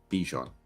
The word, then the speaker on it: Bijan: say this name properly Bijan B pronounce the b got it no Bijon okay and so uh